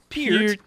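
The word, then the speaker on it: Peart: Per How did I pronounce this poor man's name? Pier. Pier.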